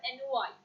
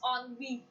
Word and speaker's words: ennui: Now the word is, now most of the time people say the word NY. The pronunciation is not NY, it's ONV. I'm repeating again, the pronunciation of this word is ONV.